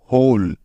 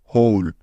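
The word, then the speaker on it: hole: এল মিলে হয়ে গেল হোল এখন বাকি রইল ই যেহেতু যেহেতু এই ই টা শব্দের শেষে আছে তাই ই এর কোন উচ্চারণই হবে না অর্থাৎ এই ই টা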